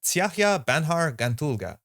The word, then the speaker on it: Tsiahya Banhar Gantulga: This is pronounced Tsiahya Banhar Gantulga. I'm going to be saying Banhar, the name in the quotes.